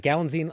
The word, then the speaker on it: Galitzine: Yeah, it's like Galline like magazine.